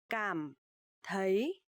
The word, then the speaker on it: cảm thấy: So here you will see the letter C. You will pronounce like letter K in English, and TH you will pronounce like th.